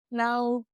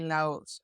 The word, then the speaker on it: Laos: I never know if we say Laos or Lao because I've heard both. I mean, I know for a fact that in German it's Laos, Yeah, in but French as well. But in I feel like in English it might be Lao.